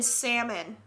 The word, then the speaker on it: salmon: make out with you my date pronounced the l in salmon i understand nuff said